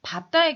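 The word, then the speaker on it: 밟다: 그 다음에 리을 비읍의 경우는 거의 대부분은 앞자음으로 발음을 하지만 밥다의 경우만 뒷자음으로 발음합니다.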